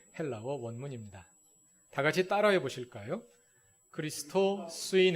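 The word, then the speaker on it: Χριστῷ: 원문입니다 다같이 따라해 보실까요 크리스토 쓰인 s 타오 로마 2 아니 저랑 같이 알았냐 따라 하시라 예 크리스터 쓰인 s 타워 로마 2 아 아주 잘하셨습니다 그리스 터에 악센트가 있구요 크리스토 지인 발음입니다 그 다음에 쓰인 에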